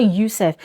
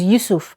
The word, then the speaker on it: Yusuf: There's someone in my comment section that is always correcting me that, Glory, it's not YUSUF, it is YUSUF.